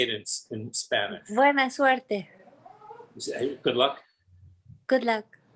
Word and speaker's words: suerte: Buena suerte. Good luck. Good luck. How do you say Buena it? suerte. Fuertes.